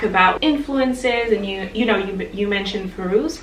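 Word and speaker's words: Fairuz: So I also wanted to talk about influences, and you mentioned Feiruz, right? That's how you pronounce it.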